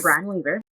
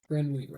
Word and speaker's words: Brynne Weaver: Brian Weaver. So before we get started with that, Brynne Weaver. Brian Weaver. Sorry, I always mispronounce it.